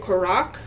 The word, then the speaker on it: Korok: The Koro Ballet Hu is going to host a Korok ballet performance soon. You know, I think they actually I think Zelda actually pronounced it Korac while they rehearse find